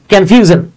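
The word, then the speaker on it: confusion: সেটা হচ্ছে যদি ভাওয়েলের পরে SION থাকে, ভাওয়েলের পরে, তখন এটা জন এরকম উচ্চারণ হয়, ভিজন, কনফিউশন, ওকে, এরকম।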